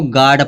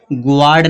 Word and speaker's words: guard: दिया जैसे GUARD, इसको गार्ड पढ़ेगा, इसको गुआर्ड नहीं पढ़ेंगे, इसको गार्ड पढ़ेंगे। ठीक है, तो यहाँ पे यू क्या हो गया, साइलेंट हो गया।